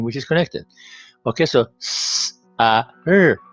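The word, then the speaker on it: سر: Okay, so s, a, r, sar.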